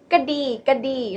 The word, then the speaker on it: ก็ดี: And sometimes Thai people don't pronounce it, like, clearly. We say, ก็ดี, like, really, really short and fast.